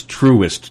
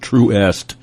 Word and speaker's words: Truist: The name of the new BB&T SunTrust merger is Truist, Truist. That is a goofy, made-up name, just like on all these cars where they make up names that sound Truist, Truist, Truist, not Truest.